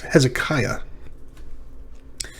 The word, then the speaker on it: Hezekiah: come together he's kia he's he's kia it's hezekiah how about uh aliyah aliyah well remember the